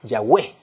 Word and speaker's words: Yahweh: el nombre de Dios, la forma más apegada en su pronunciación es la palabra Yahweh o Yahvé. Como algunas versiones de la Biblia, ustedes posiblemente las han leído, que cuando se refiere al nombre de Dios dice Yahvé o Yahweh.